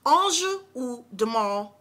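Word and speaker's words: Ange ou Démon: I took French in high school and middle school, so I know how this is pronounced, and it's pronounced, let me say it one more time, Anjou Demant from Givenchy.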